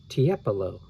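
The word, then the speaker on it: Tiepolo: here in parentheses it shows you how to pronounce the the name t t epilo oh tiapolo okay was one of the greatest painters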